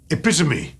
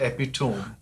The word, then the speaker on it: epitome: t o m e epitomy epitomy and not epitome that's right not hyperb